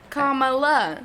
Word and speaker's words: Kamala: the phonetic principles yeah she tweeted it comma like the word comma but when i say it it just says comma i guess it's just kamala i know yeah i